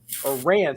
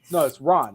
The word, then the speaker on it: Ran: a sealed copy of Ran. Sorry, it's Ron. It's supposed to be pronounced R-A-H-N.